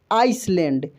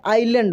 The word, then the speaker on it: island: लोग क्या पढ़ते हैं, देखिए इसको हम लोग पढ़ते हैं आइसलैंड, लेकिन आइसलैंड नहीं होता आइलैंड होता है, क्या होता है आइलैंड, इसको हम लोग पढ़ते हैं आइलैंड। मैं शुद्ध प्रोनाउंसिएशन आपको बता रहा हूँ, गलत क्या पढ़ सकते हैं वो भी मैं बता रहा हूँ, आइसलैंड पढ़ते हैं गलत जो पढ़ेंगे, लेकिन ये आइसलैंड नहीं होगा, क्या होगा आइलैंड होगा।